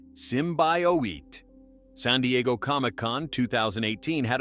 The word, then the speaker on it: symbiote: The teaser in February 2018 was criticized for not showing Venom, but the August trailer revealed him, sparking debates on symbiote pronunciation. It's Simbowit.